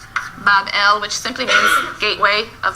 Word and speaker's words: Babylon: So the grateful gods now recognize the sovereignty of Marduk, and they build him a magnificent shrine or temple in Babylon, pronounced Bab-el, which simply means gateway of the god, the gate of the god.